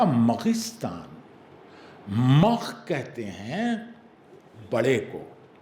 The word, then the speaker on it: مغستان: سوچ رہے ہیں مگستان، میم گاف سین تے الف نون، مگستان. یہ مگ کیا چیز ہے؟ غلط پڑھا تھا اس نے، اس لیے کہ اس نے اس اسپیلنگ کو صحیح نہیں پڑھا. وہ تھا مغستان.